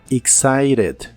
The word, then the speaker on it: excited: significa emocionado o emocionada la letra T de esta palabra la puedes pronunciar como r en inglés americano excited excited y usaremos la